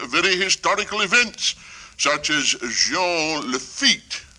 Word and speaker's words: Jean Lafitte: Some of us took part in very historical events, such as Jean Lafitte. A Frenchman, you see, I use the French pronunciation, the way you say it.